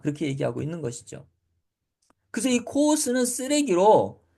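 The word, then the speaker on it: χοῦς: 이름은 522번 단어의 예 단어를 읽을 때는 코스라고 읽습니다 코스 근데 코스는 무슨 뜻을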